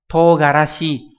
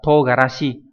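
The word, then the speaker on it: 唐辛子: Hay là togarashi, togarashi không phải là mù tạt nhé, đây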